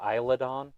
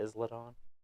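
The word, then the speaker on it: Isla Dawn: thought it was great now they're calling her eyelid on instead of islon because it's like an island Ison so the S is silent you're not going to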